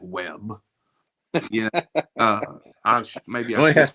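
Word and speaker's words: W.E.B.: They handled the Webb Du Bois team. I'm excited to see how they handle LCA. Someone said WEB, not Webb. Well, I'm going to pronounce it Webb.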